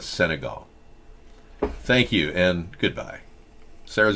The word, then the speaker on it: Senegal: didn't know I sangawa yeah Senegal Senegal you mispronounced it it's not sengales Senegal thank you and goodbye Sarah's gonna take over